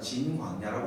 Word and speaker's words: 진광야: 맨 마지막에 나오는 신광야는 정확한 발음으로는 진광야입니다. 근데 한글 성경에는 신이라고 번역하는데 앞에 신광야하고 뒤에 나오는 신광야는 다른 이름입니다. 그래서 좀 정확하게 표현한다면 진광야라고 말할 수 있습니다.